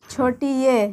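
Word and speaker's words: ی: ये छोटी य का उच्चारण है छोटी ये, इसे छोटी ये बोला जाता है।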